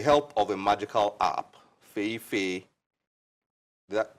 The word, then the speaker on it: Feyi Fay: With the help of a magical app, Feyi Fay, did I pronounce that well? Feyi Fay.